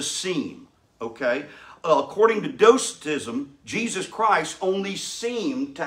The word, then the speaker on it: Docetism: let's talk about it docetism actually is the pronunciation doctism early christian heresy that